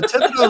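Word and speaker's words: Thibodaux: So Tibido is like I think Tibido's to the south of us. I I think it would have to be. Yeah. And so that's pronounced Tibido. That's how like a normal person would pronounce it, but from my area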